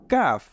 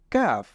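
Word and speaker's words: كاف: কাফ এরপরেরটা হলো লাম কাফ এবং কফ এই দুইটার মধ্যে আমরা সবসময় পার্থক্য নির্ণয় করব যে কফ সেটা মোটা হবে আর কাফ সেটা হবে চিকন তাহলে এটা হলো কাফ এরপরে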